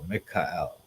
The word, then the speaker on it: Michael: But it would probably be pronounced Mikael, because the ma means like who or what.